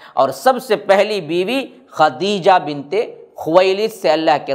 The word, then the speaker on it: خدیجہ: خدیجہ بنت خویلد ہے۔ بہت سے لوگ اس کی تلفظ میں بڑی غلطی کرتے ہیں، سب خدیجہ خدیجہ کہتے ہیں، تا نہیں ہے بلکہ خدیجہ ہے رضی اللہ عنہا، اور